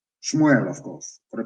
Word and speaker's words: Shmuel: dreaming let me tell you what samuel said shmuel of course for the pronunciation as your sword has killed the sons